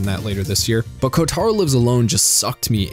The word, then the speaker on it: Kotaro: Kotaro, and yes, I know it's pronounced Kotaro, but I speak English, okay?